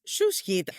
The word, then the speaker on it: SUSHEAT: Okay, I pretend that I understand that and move on to Project SUSHEAT, which actually you pronounce SUSHEAT, if I heard you correctly, and that makes me reconsider my entire introduction.